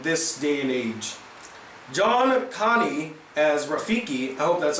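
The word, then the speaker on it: Kani: perfect Zazou in this day and age John Connie as Rafiki helped that's how you pronounce the name Connie John Connie has Rafiki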